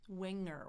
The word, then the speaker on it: winger: I add that e r on there. I've got my schwah in the middle. Raise it up for the vocalic r.